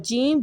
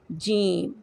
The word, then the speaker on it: ج: Don't completely close the mouth while pronouncing जीम जीम जीम।